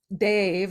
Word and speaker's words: Dev: And Dave, it's spelled DEV, but Dave means angel or transparent form of God.